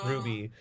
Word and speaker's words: RWBY: Is that how you pronounce that? I've done RWBY. Yeah. Yeah, it's Ruby.